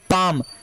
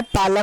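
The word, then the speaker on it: palm: ये पाम, ये क्या है? पालम नहीं है डियर स्टूडेंट, ये है पाम। एल वर्ड साइलेंट है, इसको हम क्या पाम पढ़ेंगे?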